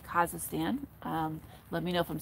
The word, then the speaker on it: Kazakhstan: so yuri lives in kazakhstan which i kept on saying wrong but i've been told is kazakhstan let me know if